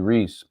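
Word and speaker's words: Rhys: Tell Michael it's Matthew Reese. It's spelled R-H-Y.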